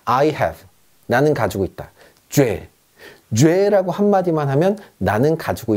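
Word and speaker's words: j'ai: 자, 주와 애가 합쳐졌습니다. 합쳐서 뭐라고 읽냐면 죄라고 읽습니다. 죄. 프랑스어는요, 연음의 언어입니다. 앞뒤로 합칠 수 있으면 가차 없이, 여지 없이 합쳐버립니다. 아무도 이거를요, 주, 애라고 얘기하지 않습니다. 그냥 죄. 그러면 이렇게 생각하면 되겠죠.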